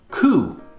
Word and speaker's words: coup: Coup, a sudden seizure of power from a government. Coup. It's a French word, and the P is silent.